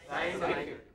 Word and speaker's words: scientific: Scientific. It is scientific. What is it? Scientific. Stress T. T has the loudest, you know, the greatest turbulence, loudest noise.